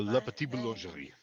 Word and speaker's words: La Petite Boulangerie: Did I spell that? Did I say that right? La Petite Boulangerie.